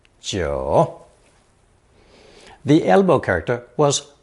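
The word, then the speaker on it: 九: the character 4 9 is pronounced third tone Joe the elbow character was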